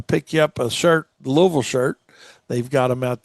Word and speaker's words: Louisville: sure to practice on Louisville and how to say it. It's like two O's, you know, l and then vul v u lv.